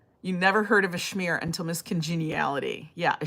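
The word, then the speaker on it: schmear: You never heard of a Shmear until Miss Congeniality. Yeah, a Shmear. A Shmear. You know, and it's spelled S-C-H-M-E-A-R.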